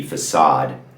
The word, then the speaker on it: façade: I really have heard people say facade, but the correct pronunciation would obviously be facade.